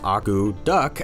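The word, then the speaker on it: akutaq: men arrived in Alaska the word agudak pronounced Aku duck actually means to stir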